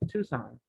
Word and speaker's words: Tucson: you i've visited texas tucson the sea is silent tucson one i never saw